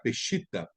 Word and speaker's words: Peshitta: vocês irmãos já falaram daquela Bíblia Peshitta, que alguns podem pronunciar Peshita, que hoje existe algumas.